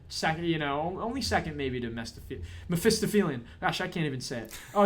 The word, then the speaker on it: Mephistophelian: Mephistophelian.